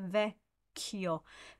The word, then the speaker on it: vecchio: Andrei sul ponte vecchio. Andrei, so dre is the emphasized one. Andrei sul ponte vecchio. Ponte vecchio. So vecchio. It's important that the chio goes on the second note, but we'll cover that